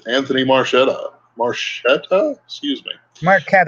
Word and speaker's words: Marchetta: Marquetta, actually, but Marchetta? Mm. when people ask, I say Marchetta, so they spell it right.